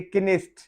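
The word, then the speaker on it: Knesset: के आ रहा है, तो उसको हम पढ़ेंगे किनेस्ट। वहां पे के साइलेंट नहीं है।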